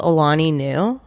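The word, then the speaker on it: Alani Nu: It's called Alani New. No. Doesn't that sound like a woman's name? How do you spell that?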